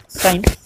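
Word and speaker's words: sine: पास जो साइन है साइन का जो म स्पेलिंग है एस आई ए e और इसको हम शॉर्ट में लिखते हैं ऑलवेज दिस इज व्ट सा एस आई ए तो इसको सीन नहीं पढ़ना है दिस इज व्ट साइन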